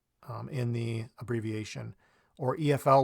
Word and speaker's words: EFL: in the abbreviation or EF l we don't say ethyl we say EF l so we're pronouncing